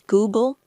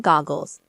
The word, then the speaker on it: Google: My grandmother tried to correct his mispronunciations, pointing out that it was Google, not goggles, and Chrome, not columns.